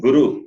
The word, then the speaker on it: guru: The next one, ra, ra, ri, ri, ru, ru, rupam, that long ru you have to use. And guru, when you say guru, the short ru.